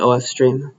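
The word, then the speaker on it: ofstream: It's short for output file stream, so the O and F are separate. They're separate letters. It's an acronym at that point, yeah. So I'll call it OF stream.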